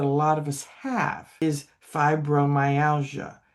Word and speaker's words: fibromyalgia: Um, one of the things with um, another disease that a lot of us have is fibromyalgia. First three letters are fib. Okay, third syllable is mine.